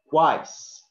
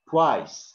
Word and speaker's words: twice: So it is now, it is not pronounced like V. For example, a lot of Turkish people, they have this kind of problem pronunciation, for example. We don't say twice, it's not twice, but twice, okay? W here is emphasis.